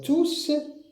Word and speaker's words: tous: Alors tous quand on a uniquement ce mot, on prononce le S. Mais quand il est suivi d'un article défini, on le prononce pas.